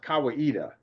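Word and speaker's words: Kawaida: dealing with Kawita rights of passage and it's pronounced Kawita. Kawita word.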